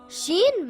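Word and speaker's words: شين: Sheen is a light letter and should not be pronounced heavy. Sheen makes a similar sound to the SH in the word show or the word shoe.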